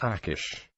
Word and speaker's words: Achish: after the Babylonian Invasion would have been pronounced akish in the 7th Century